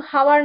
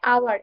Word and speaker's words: hour: মানে হচ্ছে 1 ঘন্টা, আওয়ার এটা কিন্তু হাওয়ার না, উচ্চারণটা হবে আওয়ার, HOUR, আওয়ার।